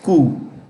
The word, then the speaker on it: coup: The P is silent, my friends. Okay. It's pronounced like this. Coup.